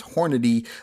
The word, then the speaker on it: Hornady: any critical duty and asked to pronounce Hornady like that or else I keep saying horny critical duty so now the results